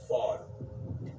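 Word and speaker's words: ephod: was called and it's it's spelled EP h o d but the way you say it is fod okay so right here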